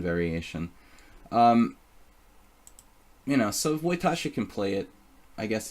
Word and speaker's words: Wojtaszek: Alright, so I've been mispronouncing it. Good to know. Wojtaszek.